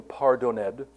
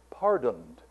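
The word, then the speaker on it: pardon'd: You are not to sing pardoned, you are to sing pardoned, which was a more avant-garde way of pronouncing the language at the time.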